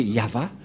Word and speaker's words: Yahvah: de de yava et la prononciation de y h selon les ébreeu c'est yava et personne ne peut